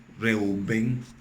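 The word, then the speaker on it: רְאוּבֵן: Rubén en hebreo es la palabra, la hebrea 7205, Reuben, así se pronuncia.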